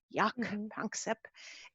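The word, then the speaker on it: Jaak: such a funny name his first name is spelled j-a-a-k yak and um and what he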